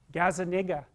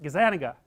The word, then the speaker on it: Gazzaniga: to say his name gazzaniga that's wrong is that gazaniga yeah i think that's it anyways he did some of